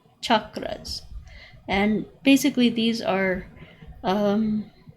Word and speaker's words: chakras: people call call them chakras with an sh they're actually pronounced ch chakras and basically these are